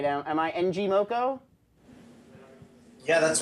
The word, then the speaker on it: ngmoco: the CEO of NG Moco they may I'm pronounce that right now am I NG moko yeah that's right all right I got a